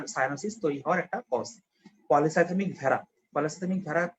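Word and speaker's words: polycythemia vera: তো ভেড়া মানে আবার ওই বাবা ব্ল্যাক শিপ ভেড়া। পলিসাইথেমিক ভেরা বলে, অ্যাকচুয়ালি উচ্চারণটা হচ্ছে পলিসাইথেমিক ভেরা আর কি।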